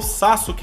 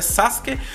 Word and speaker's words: Sasuke: que vocês devem perceber que eu falo Sasuke ainda, né? Na verdade, eu sei que a pronúncia é Sasuke, só que eu, por mania de tanto tempo que eu falava, sabe? Desde quando eu era pequeno, quando eu conheci Naruto, eu falava Sasuke, acabou ficando, meio que virou um vício, tá?